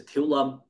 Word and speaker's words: Thiếu Lâm: So all up and down Vietnam now, right, you'll see schools broadly divided into Thiếu Lâm, which is the Vietnamese pronunciation of Shaolin, right, or Siêu Lâm in Cantonese, right?